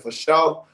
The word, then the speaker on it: FASHO: At Sugar Dunkerton on Twitter, at Sugar Dunkerton, FASHO, pronounced Sugar Dunkerton for show.